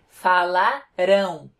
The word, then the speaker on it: falarão: Enquanto que no futuro, a tônica vai estar na última sílaba. Falarão. Viram a diferença?